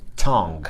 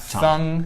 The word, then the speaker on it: tongue: é T sound. É o som de T. Tongue. Not thung. No.